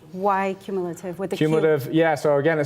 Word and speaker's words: Qmulative: about the name why cumulative cumulative yeah so again it started as like a blog online feed as simple as my name is you know about cumulative what with a queue I do get some